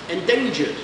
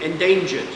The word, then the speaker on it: endangered: Endangered. With a D sound at the end. ED ending. Endangered.